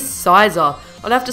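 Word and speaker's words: Scizor: got a Pokemon that I would be pronouncing scissor if I was making this list three years ago you guys know who it is it is sizer I'd have to say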